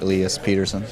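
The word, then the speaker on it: Elias Pettersson: watch the clip okay Swedish is Elias I wanted in Canadian accent like Elias Peterson all right so you guys have it that's how he wants you to say his name either in the Swedish accent or Canadian hopefully they'll put the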